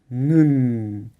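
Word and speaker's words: 눈: un poquito diferente, como nun n, por ejemplo. Si no hubiera tenido la ní abajo, el sonido sería nu. Nu, pero con la n como chem, la pronunciación es nun.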